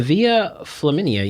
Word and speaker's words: Via Flaminia: Why do you pronounce it? Let me see. Okay. He was buried on the Via Flaminia.